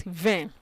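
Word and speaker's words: vingt: 10 okay it's just one word so you pronounce it vein then repetit then okay now from 21 21 now you're going to pronounce 20 and 1 20 and 1.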